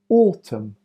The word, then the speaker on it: autumn: psycho pseudo psychology psychosis MN the last letter is silent Autumn column hym condemn solemn Dam m n the last